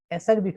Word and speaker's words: acerbic: যদি তুমি ইতে বাদ দাও, খেয়াল করো এসি, এসি উচ্চারণ কিন্তু অ্যাসারবিক হয় না, এসি উচ্চারণ শুধু হয় এক।